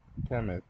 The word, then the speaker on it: Kemet: Kemet is the ancient Egyptian name for Egypt, pronounced Kemet.